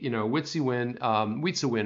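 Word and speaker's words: Wietse Wind: Witsiwin is how you pronounce his name.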